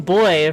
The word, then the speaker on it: buoy: I didn't instruct Edwin playing Glimmer or Amber playing Sally on how to pronounce buoy when it popped up in the script. It ended up being boy from Edwin and buoy from Amber, so I eventually added a little moment where they argue about it.